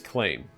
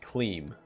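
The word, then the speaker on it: Klaem: act one I think his name is claim k l a e m I guess it could also be pronounced CLE but I hope his name isn't CLE sorry to any claims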